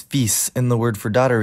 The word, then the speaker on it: fils: To start, the words for son and daughter both look like they should be pronounced fille, but neither of them is actually pronounced that way. The word for son is fils, and the word for daughter is fille.